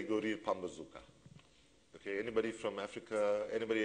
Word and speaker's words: Pambazuka: If you're from Africa, I say go read Pambazuka. Okay, anybody from Africa, anybody heard of Pambazuka? It sounds like a weapon, but it's an intellectual weapon. I'm going to get really serious now. Spell it. So Pambazooka, right?